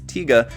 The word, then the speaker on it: Tiga: about 13 000 comments people telling me that the correct pronunciation is tiga not taiga so for all you